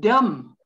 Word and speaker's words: dumb: it doubt the word dumb again a silent b forget the b if you like just